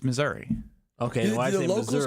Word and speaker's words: Missouri: How do you pronounce Missouri? It's Missouri.